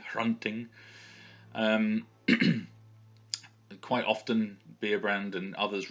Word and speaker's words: Hrunting: Beerbrand's sword is Hrunting, so you've got that H there sound at the beginning, Hrunting.